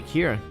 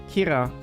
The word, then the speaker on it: Kira: the Japanese bun where Kira is is like pronounced the same way as killer as in super good